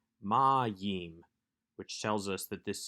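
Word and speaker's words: מַיִם: is yod heric mem we have the accent on the penultimate syllable the second to last syllable ma ma yim which tells us that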